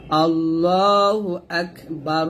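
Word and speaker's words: الله أكبر: কাফটা হামজ করতে হবে আল্লাহু আকবার আছে যদি আমরা এখানে থামি তাহলে র টা সাকিন হয়ে যাবে আর এবং র টাকে মোটা করতে হবে আল্লাহু আকবার আল্লাহু আকবার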